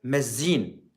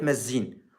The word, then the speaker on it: مزين: قرية مزين. هكذا تلفظ. قرية مزين.